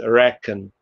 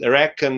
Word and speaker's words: reckon: So it's spelled with CK, but it's actually K. So it's reckon. And reckon is actually rechnen.